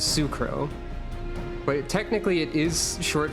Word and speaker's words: S'crow: tribe they're from and the way you pronounce s apostrophe in this naming scheme is Sue so she is sucro but technically it is